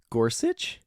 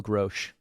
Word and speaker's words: Gorsuch: Neil Gorsuch? What were you saying? In my mind, I call him Neil Grosh.